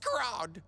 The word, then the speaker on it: Scrod: Walleye, Tilapia, Troutface, and Scrod. It's pronounced Scrod. Can you really make a quilt for us?